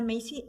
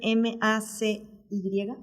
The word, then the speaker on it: Macy: Joanna Macy, se escribe M-A-C-Y, Macy.